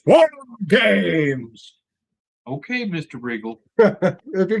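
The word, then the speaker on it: WarGames: 4 games. No. That's not how you say it. Shame on you. It's War Games.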